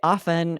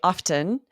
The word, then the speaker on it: often: I say often with a silent T. I have noticed you say often.